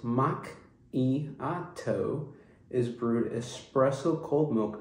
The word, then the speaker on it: macchiato: The caramel macchiato, pronounced mach-i-a-to, is brewed espresso cold milk in a swirl of caramel flavor.